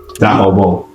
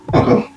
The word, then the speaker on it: Dahabo: It's Dahabo. Dahabo. Okay. So Dahabo, I believe, is the correct pronunciation.